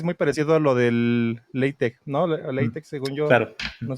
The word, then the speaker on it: LaTeX: Este digo que es muy parecido a lo del latech, ¿no? Latech, según yo no se pronuncia latex, sino es la es la es la letra esta J.